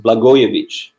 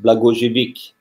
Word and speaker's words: Blagojevic: And in Serbia, it's pronounced Blagojevic. I was born and raised in France, and I used to pronounce my last name the French way, which is Blagojevic.